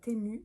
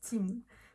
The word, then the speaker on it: Temu: va parler de timou je sais que tu as très envie de prononcer ça temu mais ça se prononce timou timou c'est une plateforme